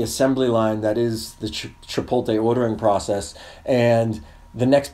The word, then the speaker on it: Chipotle: But this dude, so I'm ordering my food, and I step down the assembly line that is the Chipotle ordering process, and...